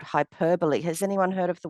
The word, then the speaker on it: hyperbole: Yes, not hyperbole, as some people say, but hyperbole. But it's spelt hyperbole.